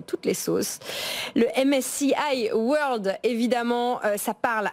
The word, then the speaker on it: MSCI World: peut pédagogiquement présenter le MSCI World que je vais prononcer à la française pour ceux qui nous écoutent le MSCI World allez disons à la française effectivement donc le MSCI World